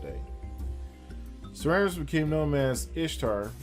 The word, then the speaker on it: Ishtar: Semiramis became known as Ishtar, which is pronounced Easter. So you can say Easter or Ishtar or Easter, referred to as Eosturmonath in scripture, and her moon egg became known as Easter's egg.